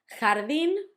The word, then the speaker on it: jardín: Jardín, garden, had the accent at the end and it also had the h sound, ja, although h, the J always sounds h.